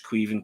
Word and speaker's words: Caoimhin: I had to even look up how you pronounced his name, but I'm told it's Caoimhin because that's the Irish Gaelic for Kevin.